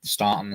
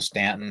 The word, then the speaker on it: Staunton: So Staunton, Stanton, however you want to pronounce it. I say Staunton.